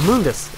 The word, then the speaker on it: Mundus: I always assumed it was Mundus or Mundus. It's definitely pronounced Mundus in the U.